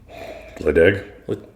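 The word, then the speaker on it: Ledaig: Ledeg? Lecheg? Yeah, that's how you say it. Even though there's a D there.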